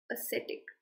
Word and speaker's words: ascetic: Ascetic. Again, note the pronunciation. Ascetic.